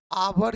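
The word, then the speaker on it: hour: हो गया पुनः सी, cows आवर इज a noun but its pronunciation is ah. So we should use n before the words which is pronounced like a vowel.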